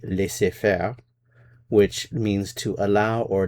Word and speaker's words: laisser-faire: was taken from French, which in English is pronounced laisser-faire, but in French it would be laisser-faire, which means to allow or let to do, literally.